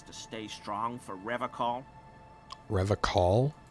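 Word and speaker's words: Revachol: Revacol? He pronounces Revacol with a hard K, unlike other people.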